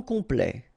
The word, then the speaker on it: complet: Okay, here a T at the end will open it. The sound of the E.